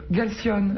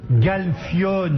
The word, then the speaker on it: Galfione: lève son t-shirt, là, on pourrait jouer Qui au Galcione. Jean, c'est ça? Galfione.